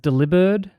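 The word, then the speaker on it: Delibird: scarry cool mantine cool deli bird which by the way is supposed to be pronounced deliber which I hated because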